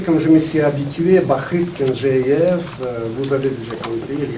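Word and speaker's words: Бахыт Кенжеев: Mesdames, Messieurs, Bakit Kenjeyev. Je me permets de prononcer comme je me suis habitué, Bakit Kenjeyev.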